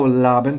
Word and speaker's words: Laban: Oh, Laban, thank you. Laban's See? a rhyme with carbon.